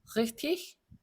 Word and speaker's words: richtig: König, richtig, Igel, dich. 자, 얘만 다르죠. 나머지는 전부 ich 발음입니다. 1번과 2번은 지난 시간에 말씀드린 대로 단어 맨 끝에 이 개가 오면 이크 발음이 아니고 ich 발음이 난다라고 말씀드렸어요.